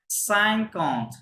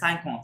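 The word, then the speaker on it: cinquante: বলতেন যে সাইকন্ট হ্যাঁ আসলে কিন্তু কথাটা সাইকন্ট হ্যাঁ সাইকন্ট কথাটা অ্যাকচুয়াল সাইকন্ট কিন্তু ফাস্ট হবে ওদের যার কারণে ওই কথাটা ওরকম সাইকন্ট শোনা যাবে ওই এন এর যেই অ্যাকুইট সাউন্ডটা ওটা একটু কমে যাবে হ্যাঁ যার কারণে ওরকম শোনা যাবে আমার কথা বুঝতে পেরেছেন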